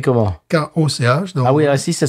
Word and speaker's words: Koch: Stone Brewing Company, créée par Greg Koch, si tu parles en anglaise, ou Koch, si tu parles en allemande. Ça s'écrit comment? K-O-C-H.